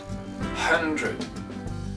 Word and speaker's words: hundred: Alors, on a un H, tous les H en anglais, sauf quelques petites exceptions, se prononcent. Donc, il va falloir faire le son H. Ok, hun. Et ensuite vous faites le son drud. Hundred. One hundred.